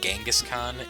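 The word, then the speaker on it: Dschinghis Khan: saying con I think and no I'm not mispronouncing Genghis Khan it's like it's written the for some reason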